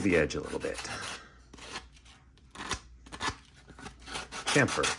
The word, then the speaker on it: chamfer: Chamfer. I think it's a chamfer. There's an H in there. I don't think it's silent.